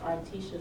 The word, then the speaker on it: Artesha: Uh, my name is Articia. That is spelled A R T E S H A.